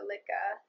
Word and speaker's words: Lia: hopefully I got it I know it's supposed to be like lyrical so Lia and yeah let me